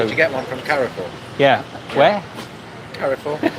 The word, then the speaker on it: Carrefour: I mean, you can emphasise the E a little bit, Carrefour, but it's not Carrefour. Just weird. Sounds weird saying car. Car. Like in car.